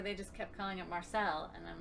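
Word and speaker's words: Marseilles: We keep saying Marseille because we've been to Marseille. But on the Illinois River, they just kept calling it Marcel, and I'm like, what?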